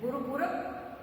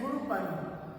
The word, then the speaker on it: गुरु पर्व: गुरुपुरब, इसका जो correct pronunciation है दैट इज गुरु पर्व।